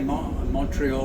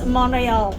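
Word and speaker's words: Montréal: only a couple you never say Montreal it's monreal monreal Mount Royal that's yeah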